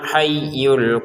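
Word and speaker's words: الْحَيُّ: Dan yanya kita tekan ya, hayyu huwal hayyu. Jangan sekedar huwal hayyu, huwal hayyul qayyum. Jangan ya. Huwal hayyul qayyum. Inilah gunanya tasydid ya. Kalau kita tidak tekan berarti tidak memfungsikan tajwidnya, memfungsikan ee tasdidnya gitu ya.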